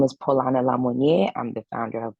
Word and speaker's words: Paulana: So we have Paulana, pronouncing it correctly, right? Paulana Yes.